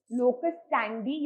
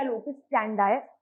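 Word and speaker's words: locus standi: लोकस स्टैंडी या लोकस स्टैंडाई इज हाउ इट is pronounced, which basically means the right or ability to bring a legal action in the court of law.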